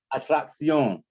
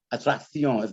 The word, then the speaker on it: atracción: When you got double C's, you want to pronounce them like a C and a K. It's like acciones. What you got here? What do you have here? Atracción. Atracción.